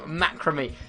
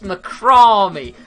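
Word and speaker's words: macramé: help in the comments i still manage to say it wrong macrame it's macrome do you know what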